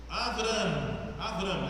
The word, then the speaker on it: Avram: O nome é Avram, essa é a pronúncia hebraica, né?